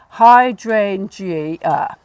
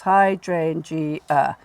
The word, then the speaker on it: hydrangea: So you've got hydrangea, 4 syllables, hydrangea, which is the third syllable from the end, hydrangea. The drain bit. Drain, yeah. So the stress is on that third syllable, hydrangea, okay?